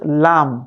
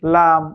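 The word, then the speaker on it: لام: জিহবার আঘার কিনেকে সাম্যের উপরের দাঁতের মাটির সঙ্গে লাগাতে হবে। যেমন লাম লাম জিহবার আগার কিনারা জিহবার আগার যে এই যে ইয়াটা আছে জায়গাটা আছে এটাকে সামনে উপরের দাঁতের মাড়ির সঙ্গে লাগাবেন কেমন লাম লাম লাম এভাবে করে লামের পারফেক্ট উচ্চারণ করতে হবে নয় নাম্বার মাখরাজি দেখতে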